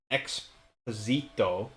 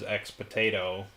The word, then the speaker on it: Exposito: She was playing Blasphemous, and she was trying to pronounce the name of one of the bosses, which I think was Exposito. Yep. Ex potato. Right, and she ended up pronouncing it as X potato accidentally.